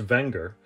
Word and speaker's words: Wenger: this all right let's watch this video technically pronounced wenger the company dates back to the late 1800s